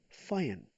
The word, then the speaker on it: feiern: Gefeiert kommt aus feiern, pronounce it me, feiern।